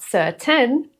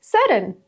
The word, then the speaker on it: certain: Not certain, it's certain.